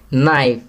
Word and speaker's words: knife: नाइफ, यहाँ के silent letter लिखेंगे.